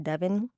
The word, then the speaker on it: Devon: Did y'all know it's actually pronounced Devon?